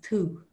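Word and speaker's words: tú: now the word for you in irish is two two if you saw that written it's t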